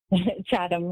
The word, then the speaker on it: Chatham: Chatham, yes.